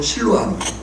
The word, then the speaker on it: 실루아노: 사실을 보인 거예요 또 신라는 유대의 그리스도인에 히브리 발음으로 신라고 로마식 발음으로 실루아노 디모데는 반 유대인이 어머니는